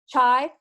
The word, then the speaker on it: Chai: Chai.